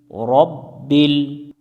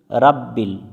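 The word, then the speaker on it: رب: মিলবে লামের সাথে বিল রব্বিল রব্বিল এখানে আমরা একটা ভুল করি সেটা হচ্ছে অনেকজনে পড়ি রাব্বিল তো এখানে রাব্বিল পড়া যাবে না রব্বিল পড়তে হবে রব্বিল আইন জবর আ লাম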